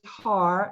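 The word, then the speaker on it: Haar: And you'll notice I'm saying, I've checked with her a couple of times to make sure we're pronouncing her name correctly. And it is Har, H-A-A-R.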